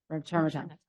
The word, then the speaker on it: remternetug: lecanemab, and you guys know how do you pronounce that one? Remternetug.